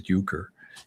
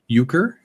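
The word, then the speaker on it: euchre: That game Uker. Uker in Bob Uker. The the late great announcer for the Milwaukee Brewers, maybe. E. Well, certainly pronounced the same way.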